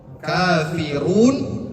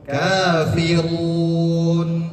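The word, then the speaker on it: كافرون: Kafirun ro berharkat apa itu? Berharkat domah. Kafirun. Berharkat domah. Maka dibacanya tebal.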